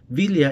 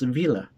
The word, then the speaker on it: Villa: But Villa is not pronounced as Villa in English, but it's Villa.